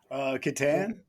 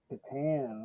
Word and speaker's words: Catan: How do you pronounce Klaus Teuber's game, The Settlers of? Gateway game. Catan. Catan.